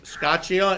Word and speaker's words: Scotchia: in it thank you next will be scotchia and am i pronouncing that right you are pronouncing it correctly so thank you for